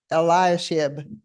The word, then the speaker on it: Eliashib: you know that Eliah how is his name pronounced eliashib allowed Tobias to live in the temple so